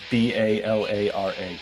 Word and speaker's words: Balara: And it's Balara. It's spelled exactly like it sounds.